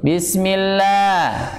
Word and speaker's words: Bismillah: HAM hak itu ada Luv lam dibacanya tebal atau tipis Bismillah Hai tipis ya dibaca tipis karena apa Idol dengan